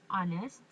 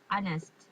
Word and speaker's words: honest: can't say ha we we didn't pronounce the h just honest honest so an honest